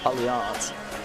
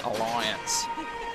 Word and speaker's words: Allianz: Or Alliance, depending on how you like to pronounce it. Probably the Northern Beaches, I'd probably say, would be Allianz. And everyone else would be Alliance, which is how I would say it.